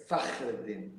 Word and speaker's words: Fakhreddine: In Arabic, it's Fakhreddine.